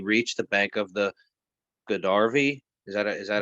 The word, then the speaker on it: Godavari: and thus he reached the bank of the Godavari. Is that how you pronounce that? Godavari, where he met Srila Ramadana Raya.